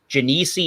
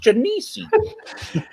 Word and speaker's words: Genesee: Ronald J Theriot that that beer was called jenissi in that Robin that J was wrong it's pronounced Jimmy see chemo they all they